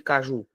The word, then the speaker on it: caju: assim ó C juu qual é a sílaba tônica de Caju Ju que é a mais forte se a sílaba tônica tá em último a palavra é uma oxítona a palavra é um